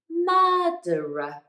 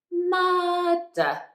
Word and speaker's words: murderer: pronounce it but again at the end of the word the next sound after that r is nothing so it's not a vowel so we don't pronounce it so it becomes murderer so repeat after me